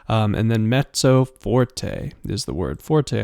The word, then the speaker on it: mezzo: MF mezzo Forte and it's actually spelled like this m e z z o but sounds like met it almost sounds like mezzo uh like almost like there's a t in there but not quite um and then mezzo